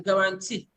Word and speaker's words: guarantee: like you have in guarantee. So you have in guarantee, then you see the second stress and move forward, whereas it's on the final syllable that you now have the primary stress.